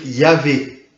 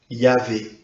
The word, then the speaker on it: Yahvé: hébreu, on va dire Yahvé. Le problème, c'est qu'on n'a que les consonantes. Donc le mot, on ne sait pas trop, on suppose que ça devait se prononcer à peu près comme ça. Yahvé.